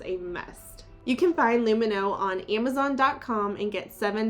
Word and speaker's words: Lumineux: or alcohol in any of luminos products everything is dentist formulated backed by over